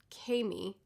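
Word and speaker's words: Camie: so instead we meet cammy oh kami i called her cammy the whole time i was reading but now that i'm looking at this pronunciation guide i'm wrong oh they sent her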